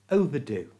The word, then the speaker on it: overdue: نہیں دے سکتے کہ زائد المیعاد میں er کو schwa کی طرح تلفظ کیا جاتا ہے جو کہ چھوٹی سی آواز ہے جو بہت عام ہے۔ انگریزی ov uh do, overdo, you try overdue وہ بھی لفظ sightseeing